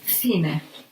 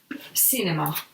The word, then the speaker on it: cine: Then we have in front of E and I is pronounced like C. And also in southern Spain or South America, it's pronounced C, like an S. So that depends a little bit on the dialect.